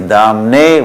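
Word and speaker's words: दाम्ने: One is Damne, one is Dhamne. So we should pay attention to these details and pronounce it right, and then understand it.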